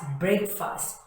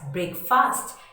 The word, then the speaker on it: breakfast: usually call it as breakfast but friends this is not pronounced as break fast it is pronounced correctly